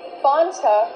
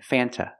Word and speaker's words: Fanta: Sprite Fanta root beer in America we do not pronounce the word Fanta it is pronounced f f use the short a sound before the N it changes a little bit it becomes a little more nasal in your nose f f f f